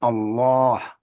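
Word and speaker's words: الله: over the same sheda this Allah is pronounced Allah because this dagger Alf elongates the vowel for two beats Allah one people are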